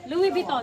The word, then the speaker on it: Louis Vuitton: At tama na may spelling pero iba kasi yung pronunciation. ha? Mali. Pwede na sana. Mali. Louis Vuitton.